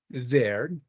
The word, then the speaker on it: there: things in English like these three words have the same pronunciation they're walking their dog over there hey they work in the door they're walking their dog over there there there have different spellings they don't have the same writing huh but the pronunciation is the same how come why is